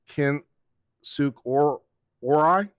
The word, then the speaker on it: Kinsuk Orai: There's no R in it at all. Well, no, there is. Orai. No, drop the R. Kinsuk Orai.